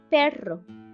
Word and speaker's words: perro: The strong R is found at the beginning of the word or in the middle, like perro, that is in between vowels.